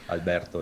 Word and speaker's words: Alberto: Yeah, the pronunciation is correct. Alberto is correct.